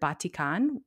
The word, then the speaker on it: batik: y'all um so it makes sense to me that batik is probably the closest accurate pronunciation and based on how